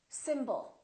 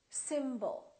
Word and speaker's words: symbol: second syllable is reduced when we have a reduced vowel we don't pronounce it fully we don't say sbol we reduce it and we pronounce it as uh symbol symbol so the O changes